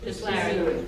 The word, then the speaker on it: Bisleri: How do you pronounce that? Bisleri.